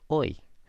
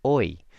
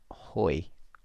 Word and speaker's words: hoy: clase de español de hoy and we here means today and just notice that you don't pronounce the H in Spanish ever so it's boy not hoy hoy kasi and director